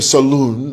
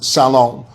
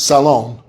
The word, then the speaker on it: salon: Some people say saloon, others say uh but but but the correct pronunciation is salon with one O. It's salon.